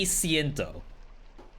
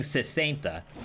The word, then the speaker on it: siento: other language than Spanish say siento so I was saying it correctly then what no I wasn't I was saying sainta is that 70 is that even a word it's 60.